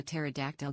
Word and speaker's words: pterodactyl: Why can't you hear a pterodactyl? Go to the bathroom. Why? Because the P is silent.